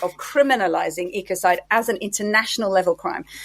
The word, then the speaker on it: ecocide: with homicide genocide suicide so ecocide or often as it's if if you want to take the US type pronunciation they say echoside um but effectively it's